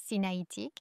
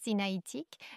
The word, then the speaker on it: sinaïtique: Alliance sinaïtique, c'est bien ainsi qu'on le prononce. Alliance sinaïtique, j'adore la parole de